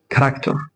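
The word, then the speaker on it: character: عارفين هنا سكول سكول هنا اقول ايه انطق الاتش هقول ايه كراكتر كراكتور كراكتور هنا اقول ايه اقول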